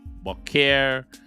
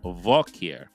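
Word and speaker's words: בוקר: Bokir is the word for morning, Bokir. Here in the verse, it's been pronounced as Vokir. But if you want to say good morning, you say Bokir Tov.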